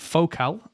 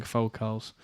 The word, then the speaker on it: Focal: Focal. Apparently it's pronounced Focal and not Focal, which is I learned recently.